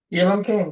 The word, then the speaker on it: Elam King: We've got Elam King. Did I pronounce that right? Elam King, yep.